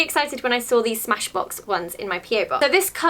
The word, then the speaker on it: Smashbox: I was very excited when I saw these Smashbock ones, Smashbock? So I was really excited when I saw these Smashbock one – I can't say it! So I was really excited when I saw these Smashbox ones in my P.O.